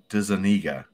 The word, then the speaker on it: DeZuniga: Am I not pronouncing it right? It's DeZuniga. It goes against my explanation of how to read it, right? Yeah. DeZuniga. And it also, there's a